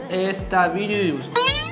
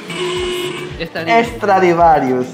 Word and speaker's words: Stradivarius: ¿Cómo se pronuncia esta tienda de ropa? Estavirius. ¿Cómo? Estavirius. Estavirius. No, a ver, lee despacio con calma, a ver. Es... Estadivaris. Estadivaris. Estradivarius.